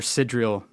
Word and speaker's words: sidereal: Love Is that, am I saying that incorrectly? I mean, I'm more used to the tropical. Sigilogical. How do you say it? Say sidereal, but Sidereal. Then that's probably correct.